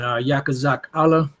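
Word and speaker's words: Yechezkel: And Yakazak Allah is how you say Ezekiel in the Hebrew, which means Yahweh strengthens, or the power strengthens, or the Most High strengthens.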